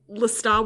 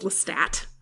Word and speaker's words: Lestat: That was hard for me because I read it first and I pronounced it with the silent French T. But then there's Anne Rice just like Lestat this and Lestat that, and that was Ozymandias.